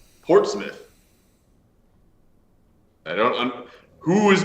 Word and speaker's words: Portsmouth: you for saying uh thanks you for saying Portsmouth correctly um like the word p-o-r-t-s-m-o-u-t-h uh just